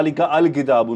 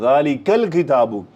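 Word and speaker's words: لِلْكِتَابِ: जुमले में लिल किताब अब देखि मैं डायरेक्ट काफ को लाम से कनेक्ट कर रहा हूं और बीच में यह जो हमजा तोल वसल है यह साइलेंट हो गया खामोश मेरी आवाज नहीं उस पर जा रही अलवल जालिस लिकल किताब मैं नहीं कह रहा लिका अल किताब नो लिकल किताब ये जो जंप लग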